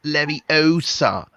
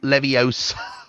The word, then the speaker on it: Leviosa: Saying it wrong. It's Leviosa, not Leviosa.